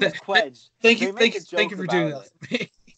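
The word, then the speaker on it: Cwej: There's a joke about it in an original song where it's like, it should be pronounced Shvay, but no one pronounces it that way, so I go by Quedge.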